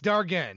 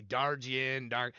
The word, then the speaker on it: Dargan: It's Dargan. I always say it wrong. I say Dargin, I come up with a million ways to say it wrong.